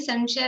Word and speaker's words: असंशया: शब्द है असंशया, लेकिन अ साइलेंट है, बोलते समय नहीं बोला जाएगा।